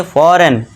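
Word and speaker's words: foreign: अगर आपको जी के बाद एन दिख जाए तो वहां पे जी आपको क्या कर देना है? साइलेंट कर देना है। उसे पढ़ना नहीं है। तो इसे क्या पढ़ेंगे? फॉरेन।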